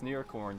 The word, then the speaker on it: Nearcorn: thing straight narrator uh my name is in it's near corn so if you could pronounce it properly I would appreciate it